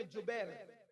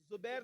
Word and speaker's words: جبیر: صحابہ کو عبداللہ ابن جبیر، زبیر نہیں بلکہ جبیر، جیم سے جبیر، تھوڑا سا آج کل